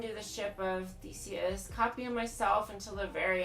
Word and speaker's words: Theseus: So, you want to do the ship of Theseus, copying myself until the very end of your natural life.